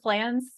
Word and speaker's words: Pflanz: you thank you um flans is my name on there okay L to that P PF l n z silent P um and then my P or my work email is a.